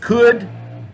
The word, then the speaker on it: could: and should is that you do not pronounce the L and either of these words is just could or should all right for the